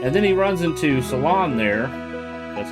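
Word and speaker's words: Selan: And then he runs into Salon there, that's how you say her name, and they fall in love, get married, and have a child.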